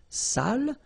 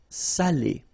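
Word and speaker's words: salé: without the accent so if you don't put the accent it means dirty and then you pronounce it Sal but in that case here okay you put the accent and it's quite important because in that case it means salted okay Sally okay say s say Delo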